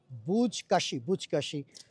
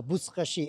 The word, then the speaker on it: বুজকাশি: এই ছিল হচ্ছে আফগানিস্তানের জাতীয় যে খেলা, বুজকাশি বা বুজকাশি এরকমভাবে তারা উচ্চারণ করে আর কি।